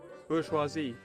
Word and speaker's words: bourgeoisie: Bourgeoisie.